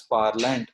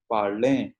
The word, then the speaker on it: parler: We do not pronounce as parlant. It is pronounced as parler.